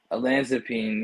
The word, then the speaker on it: olanzapine: next track um track number ten do you pronounce the olanzapine olanzapine yes yeah what is that um so olanzapine